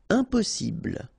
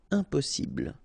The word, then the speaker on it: impossible: Impossible. Don't insist on the final E. Impossible.